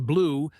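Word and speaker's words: BLEU: BL EU pronounced blue is an automatic score that estimates how close a machine translation is to a human one.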